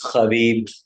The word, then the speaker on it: Khabib: Justib is Khabib. They pronounce it with a K at the beginning. Khabib because they don't have H in Russian.